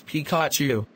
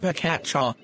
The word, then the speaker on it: Pikachu: cards are you stupid you mispronounce Pikachu it's Pikachu not pakacha stop being violent violence